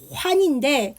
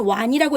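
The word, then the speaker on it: 丸: 그래서 요것도 시험에서 실은 좀 잘 나와서 제가 설명을 한 건데 이게 둥글 환자죠. 그래서 우리가 제지오 완이라고 읽죠. 한자는 완이라고 읽어요. 환할 때 우리 알약할 때 환인데 우리는 근데 중국어는 완이라고 읽고 그래서 얘가 이게 둥글 환자.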